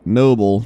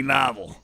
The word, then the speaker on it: Nobbel: some people are still I know it's Noble in fact so I remember fishing with you and I asked you this but some people are still like it's got to be novel you're saying it wrong you positive that is Noble are you really sure